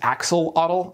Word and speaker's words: axolotl: what I mean right you've probably heard this Axel Auto that's fine that's pretty much the standard American English pronunciation it's just that the name actually comes from the nowats languages where X's denote the sh sound and the Digraph TL is used for the voiceless alveolar lateral affricate basically a t sound